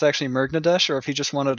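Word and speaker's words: Murgnadesh: real name people are wondering if it's actually mergnadesh or if he just wanted a name that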